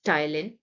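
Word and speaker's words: ptyalin: हम टायलिन भी कहते यहां पर ध्यान देंगे बच्चे यहां पर पी साइलेंट है सो we pronounce it एस टाइलिन and there is अ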